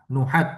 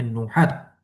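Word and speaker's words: نحاة: baina kaunihi na'tan marfuan annuhat ini kita bacanya nuhah nuhat ya bacanya nuhat nah nuhat ahli nahwu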